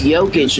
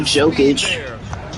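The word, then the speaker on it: Jokić: It's Jokic, not Jokic.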